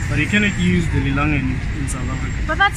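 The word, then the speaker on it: lilangeni: Okay, if it's plural, call it emalangen. Emalangen? Yeah, but if it's just one, then it's lilangen. Oh, lilangen when it's one, plural emalangen.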